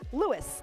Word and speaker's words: Louis: And Becky also suggested that St. Lewis is pronounced Lewis, like Lewis.